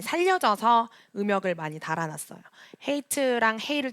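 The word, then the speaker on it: חית: 헤이트랑 헤이를 좀 구분하기 위해서 헤이는 그냥 히읗으로 사용이 되었고 헤이트는 키역이 들어가서 음역이 적혀져 있습니다. 헤이트 한번 따라해볼까요? 헤이트.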